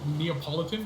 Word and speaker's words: Neapolitan: You pronounce it wrong. Yeah. So I always thought Neapolitan was like Napoleon, and I was like, why is Napoleon spelled Napoleon, but Neapolitan is spelled Napoleon too?